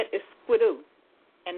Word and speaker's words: squidoo: you say it is squidoo and that's how it is it's squidoo and I'll spell it